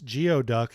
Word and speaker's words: geoduck: So yeah, I only pronounced uh gooey duck wrong once. Geoduck, you know, it's one of those quaint regional pronunciations that they use to trick outsiders.